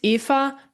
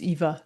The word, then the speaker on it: Eva: Is it Eva or Ava? Yeah, in German it's EA, but English in English it's Eva. So that's absolutely fine.